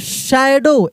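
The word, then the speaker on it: shadow: near the window देखिए शैडो window ओ ओ डब्ल्यू रहेगा तो डब्ल्यू का साइलेंट डब्ल्यू साइलेंट हो जाएगा ओ को ओ ही पढ़ देंगे ठीक है ना विंडो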